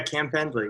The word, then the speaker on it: Cam Pendley: Yeah, Cam Pendley, yep.